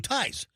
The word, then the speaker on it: Thai: So, it's anti- tie Thai. If you notice, I said two ties.